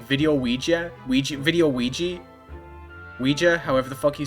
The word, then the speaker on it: Ouija: A Luigi board. Isn't that how you say it? Luigi board? Is it Ouija board? It's Ouija board, right?